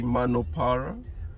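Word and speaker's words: Munno Para: so you might that's not the way they pronounce it so they say mano para so it's a shopping center there was one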